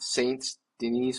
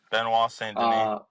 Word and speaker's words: Benoit Saint Denis: It's Patty and fucking being at Saints Denise, whatever the fuck his name is. Benoit Saint Denis.